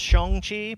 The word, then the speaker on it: Shang-Chi: Yeah, well, Shang-Chi should be pronounced Shang-Chi, pretty much, but we're not going to ever possibly, do that.